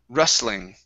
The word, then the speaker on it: rustling: word rustling okay so here the t is silent and we're gonna say ra instead of rue okay so rustling wrestling good the wrestling